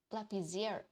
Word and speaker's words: lapiseira: The pronunciation is lapiseira.